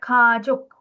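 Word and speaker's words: 가족: Okay, last kajuk kajuk which means family. Correct. Ka and then j with a o sound and then a k sound. Kajuk kajuk which is family.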